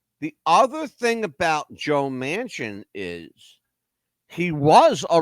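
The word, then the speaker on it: Manchin: his name is Senator Joe Mansion m n c n pronounces it Mansion like the big building the Mansion all right Joe Mansion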